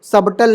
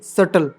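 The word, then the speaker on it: subtle: नहीं डाउट वैसे ही सटल सबटल नहीं सटल राइट अब कुछ एक्सेप्शन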